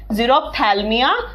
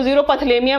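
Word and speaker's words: xerophthalmia: दूसरा है जीरोप्थैल्मिया या जीरोप्थैल्मिया हिंदी में, प्लीज इसको जीरोपथलेमिया मत बोल देना यार। एक जगह मैंने देखा यूट्यूब पे जीरोपथलेमिया बोल रहे थे, इसको जीरोप्थैल्मिया है।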